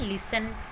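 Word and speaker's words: listen: ई और एन हो, तो वर्ड के लास्ट में जब भी ई एन होता है और ई एन से पहले हमारे पास टी है तो वो टी वहाँ पर साइलेंट हो जाता है। For example लिसन, often. तो आप यहाँ देख सकते हैं कि वर्ड के लास्ट में ई एन है और ई एन से पहले टी है जो कि यहाँ पर साइलेंट लेटर है।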